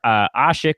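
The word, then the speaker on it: Asik: Omer Ashik, or Ashik, depending on how he wants to pronounce this year, is not a guy that's going to be seeing big minutes.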